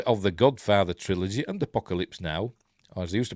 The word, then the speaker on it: apocalypse: Horsemen of the and I I pronounce apocal no apocalyps that's so I think he like Calypso so pronounce it apocalyps apocalyps now uh has